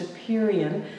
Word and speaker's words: apeiron: of the show it's I think it's pronounced a period it's spelled ape iron a-p-e-i-r-o-n and it means